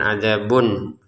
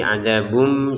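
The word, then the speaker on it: عذاب: Jadi cara bacanya bukan adzabun tapi adzabum, seperti itu.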